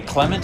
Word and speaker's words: Clement: i should say um people pronounce my name clement and it's actually clement so i should be